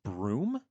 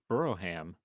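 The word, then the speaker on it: Brougham: Oh, it's pronounced broom. Burrow. I thought it was Buroughham. God, they do the British thing where it's like you have the word and you just don't pronounce any of the middle part.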